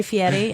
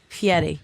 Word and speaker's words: Fieri: Yeah, and they actually videotaped when I was here with Guy Fieri and Carl, Yes. and they How do you say his last name? Fieri.